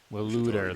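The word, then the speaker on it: Waloed: Waluda, that's how you pronounce it.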